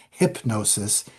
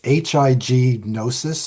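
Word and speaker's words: Hipgnosis: It's not Hypnosis. It's HIGNosis or something like that.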